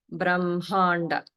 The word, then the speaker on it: Brahmanda: pronounce that differently, but the way that we do it is as Brahmanda.